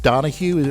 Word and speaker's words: Donoghue: It's Donahue. Am I pronouncing your name right?